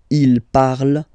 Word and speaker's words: parle: hate me, but you won't pronounce these letters. Okay, you have to write them for the plural form, but you don't pronounce them. So you get il parle, elle parle.